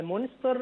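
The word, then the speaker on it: Münster: لأن أنا لما أجي أقراها عربي أو أقراها إنجليزي هنطقها مونستر، فأنا مش عارف النطق كده بالألماني يبقى اسمه إيه؟ اه فعلا مونستر هي فعلاً؟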